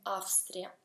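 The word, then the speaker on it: Австрия: Austria si scrive con la V, ma si pronuncia con la F, Austria.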